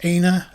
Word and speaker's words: Aina: So One Piece opening 29 is performed by the band, I believe it's pronounced Aina, as it's A-I-N-A.